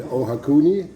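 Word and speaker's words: Ohakune: We're near Ruapeo in Ohakuni, is that right?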